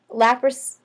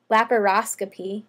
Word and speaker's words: laparoscopy: to have a hysterectomy lapras laparoscopy would be the pronunciation laparoscopy a lot of